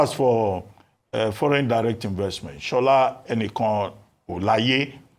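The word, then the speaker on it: Shola Enikanolaiye: Now, as for foreign direct investment, Shola Enikan Olaye, that's the correct pronunciation.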